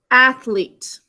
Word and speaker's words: athlete: Ath, syllable break, l, e, t, silent final E, athlete.